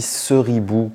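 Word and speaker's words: Ceribou: dit seribou ou seribou et bien on dit seribou parce que c'est une cerise et oui et petit bout voilà un bout de cerise et on dit CER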